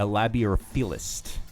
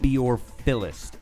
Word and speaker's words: labeorphilist: I think you would technically be called a labiorphilist. Can you spell that? Labiorphilist.